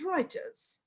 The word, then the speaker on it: Reuters: reuters although the spelling is reuters but we pronounce it as reuters now how do we calculate now every one